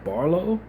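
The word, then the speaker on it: Barlow: Starters for the Sixers, Tyrese, Maxi, VJ, Edge, Cone, Paul George, Dominic Barlo. I don't think I've heard his name. Oh, Barlo. I think I probably had his name wrong.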